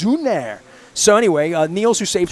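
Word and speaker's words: Sünner: She's eating schnitzel right now in Cologne, Germany, and drinking Sooner beer. It's pronounced Zuner. It's Zuner. Say it the right way. It's Zuner.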